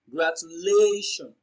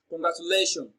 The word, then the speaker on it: congratulations: now congratulations is pronounced and broken down into syllables as congratulations so the fourth syllable lay receives the stress congratulations so the answer to this question is option